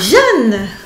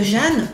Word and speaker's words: Jeanne: Parce que encore une fois, le E final de Jeanne ne se prononce pas.